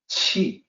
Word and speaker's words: 契: so here's the pinion Chi so it sounds just like the chi in Qigong Chi it is however a